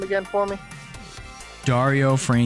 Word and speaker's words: Dario Franchitti: Dario Franchitti. Dario Franchitti.